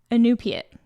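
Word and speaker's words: Iñupiaq: An Inupia Inupia, I think is how you say it.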